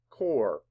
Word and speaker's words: core: Core. And on this one, this is how you know O-R-E, because it doesn't say core-E or core-up. It says core.